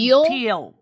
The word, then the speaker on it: Peale: Vincent Peale.